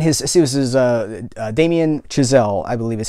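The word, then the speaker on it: Damien Chazelle: that director and his see this is uh Damen chazelle I believe is how you pronounce am I am I saying that right yeah Damen chazelle and his college roommate was the composer for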